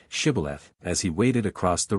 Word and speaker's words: Shibboleth: The Ephraimites were as unable to frame the sound of sh as Englishmen are to pronounce the Scotch och. The nearest they could come to the pronunciation was Sibboleth. This betrayed them, and 42,000 were slain.